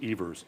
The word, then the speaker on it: Evers: Well, I think the perfect example of that is Evers. Actually, it's properly pronounced Evers.